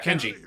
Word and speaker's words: Kenji: Yeah, Kenji. Kenji? I assume that's his name, considering the fact that he said it rhymes with Benji, and there's clearly a K on his cap.